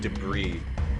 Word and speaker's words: debris: That's pronounced debris. It's a silent s.